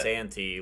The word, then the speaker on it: Santi: I was telling Santi last night that is that how you say it, Santi? Yes. I was telling him technically last it's night like that... Santy, like Santa Claus, but you can do whatever you want.